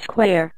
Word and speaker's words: Squire: daddy bear said, "Thanks, Squire," and the man said, "It's pronounced Square, God blow me.